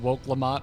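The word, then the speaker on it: Wuk Lamat: talking to to okay so I thought people in chat were having like a gag when they were saying woke Lamont but that is kind of how she pronounces her own name I'm not saying it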